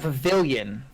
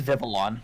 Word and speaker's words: Vivillon: Vivillon. What the hell? Is that a Pokemon? Yeah, it's a flying bug, and the wings. Pavilion. Oh no, it is Vivillon. Vivillon, yeah. I always pronounced it Pavilion.